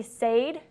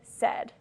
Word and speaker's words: said: use the words or the pronunciation of english it really should be sayed but we say said so there's a lot